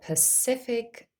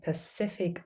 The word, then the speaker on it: Pacific: the letter C in Pacific Ocean has three different pronunciations the first C is a s sound s in the second syllable of Pacific the second C is